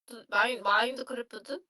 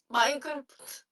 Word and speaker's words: Minecraft: 마인드크래프트? 마인드크래프트 맞나? 마인드크래프트는 Wala eh. Wala, hindi siya gamer eh. Kaya mababali siya ng Minecraft. pagka-pronounce eh. Minecraft. Yo. Natawa din ako dito. 야 게임을 안 해서 몰라. 마인크래프트.